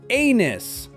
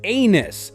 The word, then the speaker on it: anus: The correct way is anus. Start with a like the letter a and finish with a soft nus.